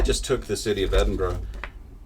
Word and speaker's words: Edinburgh: Can I just congratulate you from the bottom of my wizzed old Scottish heart for being an American and pronouncing Edinburgh correctly.